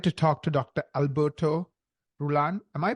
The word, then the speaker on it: Rullan: today I'm excited to talk to Dr Alberto rulan am I pronouncing your last name correctly yes perfect uh